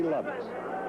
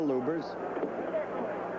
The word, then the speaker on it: Lubbers: Indonesia Muhammad Ali against Rudy lovetts or lubers it's pronounced both ways lubers is probably more technically correct anyway it's the way Rooney wants it said the elubers Beats